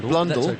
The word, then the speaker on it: Blundell: cricketers 30 31 you're you're picking me up on my pronunciation well it's blonde blundell mitchell is struck on